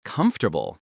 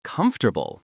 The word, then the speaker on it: comfortable: Think about words like comfortable which becomes comfortable.